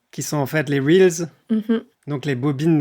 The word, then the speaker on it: reels: Qui sont en fait les reels. Hm hm. Donc les bobines de cinéma en fait ou des voilà. Ou de bobines d'enregistrement. Mais les gens le prononcent réel alors que c'est des reels en fait.